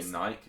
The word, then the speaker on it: Nike: But we accept that we say Nike incorrect, because Brits say Nike. It's Nike. But it is Nike. It's Nike. So you're getting Nike right.